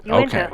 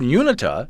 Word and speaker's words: Uinta: Same way, Uinta. Okay, because I've heard Unita as well, which I know is completely wrong. That's a transposition of the N and the I.